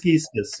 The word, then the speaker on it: Gieskes: Yes, it's a Dutch name, Hans Gieskes. Yeah. And Hans Gieskes.